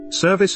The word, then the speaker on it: service: Service is stressed on the first syllable, so the vowel in